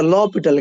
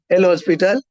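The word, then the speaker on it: L'Hôpital: लेकिन हॉस्पिटल नहीं होता, लॉपिटल क्या होता है? हाँ, वो रॉन्ग है। लॉपिटल, एल हॉस्पिटल, उसमें एस नहीं आता है, ठीक है? एच साइलेंट जाता है, क्या आता है? एच साइलेंट जाता है और एस आता नहीं है, लॉपिटल होता है, क्या होता है?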